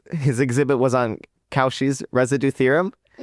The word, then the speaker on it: Cauchy's: He's like, "Oh, some people think it's pronounced differently, but it's actually Cauchy's residue theorem.